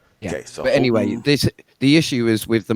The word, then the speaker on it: Halton: said Holton.